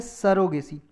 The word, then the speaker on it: surrogacy: Next topic है सरोगेसी। इसे बहुत से लोग प्रोनाउंस करते हैं सैरोगेसी, बहुत से लोग बोलते हैं सरोगेसी, तो कुछ भी बोल सकते हो आप।